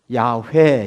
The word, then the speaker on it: 야훼: 붙이고 여기다 입자를 붙였어요 발음해 보면 야훼 이렇게 돼 야외 그래서 우리 k2